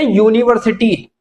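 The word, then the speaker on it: university: एन आएगा य पर इसे बोलते यूनिवर्सिटी या का साउंड आता है इसमें भी या तो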